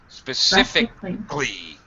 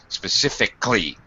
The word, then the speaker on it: specifically: Specifically. Yeah, we drop this syllable here. We just plain don't pronounce this. Okay, we just drop it. It's basically omitted. Specifically.